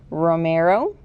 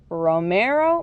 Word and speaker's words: Romero: Romero Britto. And let's try it all together. Romero Britto.